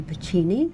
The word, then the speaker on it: Pacini: tonight I have a wonderful guest, Toni Pacini. Did I say it right? Yes, Pacini?